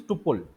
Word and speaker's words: tuple: ठीक है, as whatever you pronounce, the right pronunciation is tuple, tuple, tuple data type.